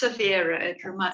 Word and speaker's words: Savira: mentioning is, is it Savria? You can talk if you want as well. You can quickly chime up. We're more Hello, it's Savira. It rhymes with Bagheera.